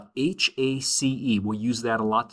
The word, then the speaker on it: hace: HACE, we'll use that a lot to talk about weather. Remember in Spanish, the H is silent, so when we say that, it's like saying hace, all right?